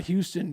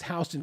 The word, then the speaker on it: Houston: Just like, you know, it's not Houston County, it's Hston County, even though it looks like Houston.